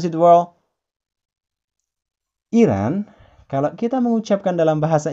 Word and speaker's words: Iran: Iran, kalau kita mengucapkan dalam bahasa Inggris, kita sebut Iran. Nah, Iran. Iran. Sedikit ada perpanjangan di sini. Bukan Iran, tapi Iran. Joesin ulangi sekali lagi ya. Iran.